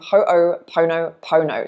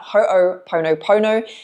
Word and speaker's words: Ho'oponopono: Now, I might muck up the way that this is pronounced, so just bear with me, but there's a Hawaiian forgiveness practice called Ho'oponopono. So, research that. Ho'oponopono.